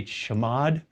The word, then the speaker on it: chmod: change mode command chmod some people will say chamod i never really cared for that pronunciation but it's done in